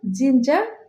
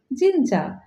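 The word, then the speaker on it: ginger: আদাবা আমরা এটাকে সাধারণত জিনজা বলে থাকি জি আই এন জি R dollars এখানেও আর এর উচ্চারণ হবে না কারেক্ট প্রসিশন হবে জিঞজা আইন জি আইন জিঞজা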